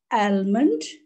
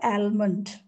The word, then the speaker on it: almond: Almond? It's not almond. The correct pronunciation is Almond.